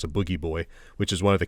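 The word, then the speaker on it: Booji Boy: is animated to look like a character called Boogie Boy, spelled Bougie Boy, but they pronounce it Boogie Boy, which is one of the characters that would appear in Devo videos and sometimes that's awesome.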